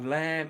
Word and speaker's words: lamb: ways you know Oh, lamb. Vicram. Lamb. Lamb. L A M B. Silent B. Lamb. Yeah. L A M B. The B is silent.